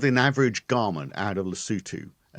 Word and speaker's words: Lesotho: It's e o th h o is yeah it as I say at the beginning it sounds like it's pronounced lassoto but it's pronounced lutu and apparently by looking I'm just trying